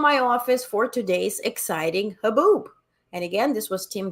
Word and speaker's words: haboob: So how do you pronounce this? Haboob, right?